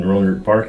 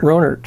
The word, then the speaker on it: Rohnert: When I moved here, it might have been 50 or 60 people living in Rohnert Park at the time.